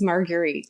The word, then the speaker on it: Marguerite: me too but boy Margaret Henry am I even pronouncing her name correctly or is it margarite very close it is margarite yes margarit margar Henry growing